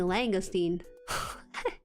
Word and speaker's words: langoustine: lobster from what to Google langin langin okay langoustine I got I got to make sure I